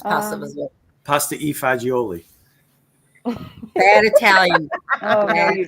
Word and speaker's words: pasta e fagioli: Pasta vazul. Pasta vazul. Oh, ask him how he says pasta vazul. Pasta e fagioli.